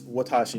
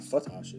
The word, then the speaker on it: Watashi: If he has any bulky Vs, he should be able to, but it seems Watashi, not Fatashi, that's a weird pronunciation, is not yet feeling that desperate, which is fine, I guess.